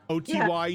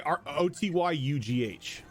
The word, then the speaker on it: Otyugh: Spell that for me, please. Otyghhu. ATGHU? Yep. Would I have any idea what that is? Oh, I'm Same. sorry, Otyugh.